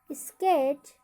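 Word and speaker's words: sketch: तो यहाँ पर टी का उच्चारण नहीं होगा। क्या पढ़ेंगे, बेज। इसी ही match, match, स्विच, स्केच, किचन।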